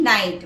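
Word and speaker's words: night: white strips next word नाइट एन आई जी एस टी नाइट where the जी is silent नाइट नाइट the period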